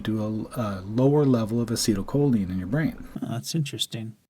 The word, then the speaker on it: acetylcholine: neurotransmitters and I'll give you some examples acetylcholine acetylcholine is how you pronounce it acetylcholine is responsible for your attention